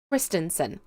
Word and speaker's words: Christensen: surname and I'm like it's kristensen just think of it's chrisen kristensen yeah I'm always really